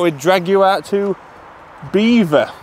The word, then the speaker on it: Belvoir: drag you out to Beaver beaver not belir not Belvoir we just looked at it it's definitely Belvoir it's not it's actually pronounced beaver and I thought people